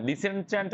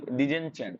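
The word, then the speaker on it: disenchant: ধমক দেওয়া কাউকে আর ডিসেনচ্যান্ট মানে কি ডিসেনচ্যান্ট মানে কি চ্যান্ট যেটাকে উচ্চারণ একচুয়ালি ডিজেনচ্যান্ট মানে মোহমুক্তকরণ মোহমুক্তকরণ এখন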